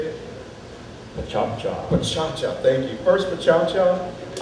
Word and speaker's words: PechaKucha: PechaKucha.